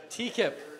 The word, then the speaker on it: Tekippe: In the meantime, I would like to introduce Aaron Tekippe.